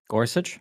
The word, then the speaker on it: Gorsuch: the guy's name uh starts with a g Gorsuch Gorsuch thank you uh Gorsuch actually uh the company